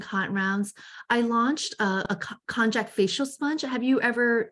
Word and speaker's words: konjac: I launched a konjac facial sponge. Have you ever used that? No, not. So depending on, of course, in Japanese, it's called kunyak. So it's different pronunciation, Western and East.